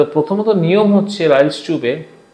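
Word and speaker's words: Ryle's tube: Unconscious সেমিকনশিয়াস, তাদের তো রাইলস টিউব দিয়ে খাওয়াতে হয়। ফলে রাইলস টিউব কথাটা অনেক সময় আমরা উচ্চারণে ভুল করি, রাইলস টিউব আমাদের ধারণা থাকে ভাত ঢোকানো হয়, না, রাইলস টিউব, RYLE', রাইলস টিউব।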